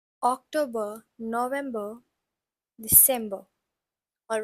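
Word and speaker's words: Oktober: we have October so October has a see in it in English but in German it has a k and it's pronounced as October then again we have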